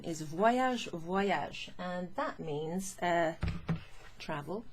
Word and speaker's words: Voyage: Listen to the way that Y, the Y, se prononce. Voyage, voyage. The V-O-Y, voy, voy. It's as if there's a W in there.